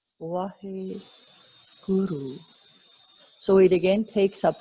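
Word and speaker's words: Waheguru: And then we have Wahe Guru. So there are 2 syllables. Wahe. It's actually 4 syllables. Wahe Guru. But we don't. We chant it as in 2 flows. Wahe Guru.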